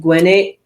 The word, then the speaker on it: Gwinnett: yeah, I think it's pronounced Gwinnett County.